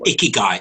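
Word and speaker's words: ikigai: iaii what do how do you say again icky guy icky guy icky guy I'd like us to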